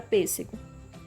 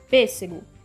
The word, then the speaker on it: pêssego: acentos circunflexo ou agudo por exemplo na palavra pêssego pêssego o assento é o circunflexo na antepenúltima sílaba tá o gol é